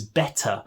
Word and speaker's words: better: It's often what you would hear teenagers saying, but what we mean is better, but we just don't pronounce the T.